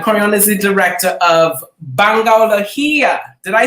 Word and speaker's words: Bangalogia: And Coreon is the director of Bangalogia. Did I say it correctly? Bangalogia, yeah. Bangalogia.